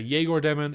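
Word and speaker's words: Egor Demin: People say Yegor Demon, Igor Demon. More like Igor Demon.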